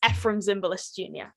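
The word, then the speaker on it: Efrem Zimbalist Jr.: just had a i've just listened to the pronunciation it's ephrem zimbalist jr ah very good yeah i i constantly mispronounce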